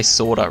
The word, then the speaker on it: Sauda: of sauder but well i should say sorta really because her name is s-a-u-d-a and i think it's just better if you pronounce it sorta because well she wields swords so we're gonna test